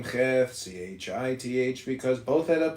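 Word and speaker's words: ח: Cheth pronounced Cheth, transcribed as CH, the number 8, meaning field of fence, the intelligence of the house of influence.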